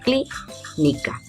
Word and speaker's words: clínica: En este caso clínica sí lleva tilde, por ejemplo, clínica. Cli será la sílaba tónica y ni. Y luego la sílaba K serán las sílabas átonas.